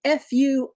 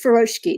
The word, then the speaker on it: furoshiki: is it's f-u-r-o-s-h-i-k-i uh which is pronounced furoshki not furoshiki uh japanese has some little things where like english it kinda sometimes the vowels get dropped a little sometimes you know things get a little smushed um so don't pronounce it furoshiki that sounds like daishiki hi reyna so glad